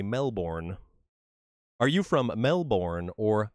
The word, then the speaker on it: Melbourne: We don't pronounce our R's, the way you do either. Yeah, you've got that weird ah. Melbourne. You say Melbourne. While over here we say Melbourne.